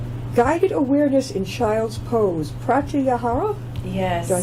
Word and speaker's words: pratyahara: Guided awareness in child's pose, pratyahara.